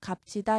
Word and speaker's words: 값지다: 값지다. 여기서 비읍 시옷 있는데 대표음 비읍이 남고요. 뒤에 나오는 지읒이 된소리로 바뀌어서 값지다 이렇게 말합니다.